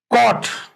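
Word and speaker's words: caught: sound नहीं आ रहा है तो ई इज साइलेंट उसको अंडरलाइन करना है आपने कट कट का कैच की पास्ट फॉर्म होती है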